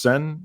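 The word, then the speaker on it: Seine: opening ceremonies down uh the river sen it's pronounced sen yes believe so that the opening ceremonies there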